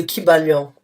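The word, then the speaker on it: Kybalion: à télécharger qui s'appelle qui s'appelle donc le kibalion ça s'écrit k y B a l i o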